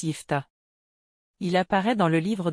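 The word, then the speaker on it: Jephté: la chaîne merci d'avance jeft en hébreu phéicien se prononce yfta il apparaît dans le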